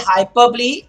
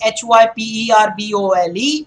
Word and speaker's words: hyperbole: By the way, when I say hyperbole, the spelling is Hyperbole, but it is not hyperbole. It's hyperbole. That's how you say it. Burly, hyperbole.